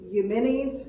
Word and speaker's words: Eumenes: King, I think it's Eumenes is how you pronounce it, the second, built and named this